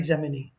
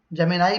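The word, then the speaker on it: Gemini: बच्चों ये वर्ड के दो प्रोनाउंसिएशन होते हैं, एक जेमिनाई और एक जेमिनी। आई am suppose to यूज जेमिनी, आप जेमिनाई भी यूज कर सकते हैं, ठीक है।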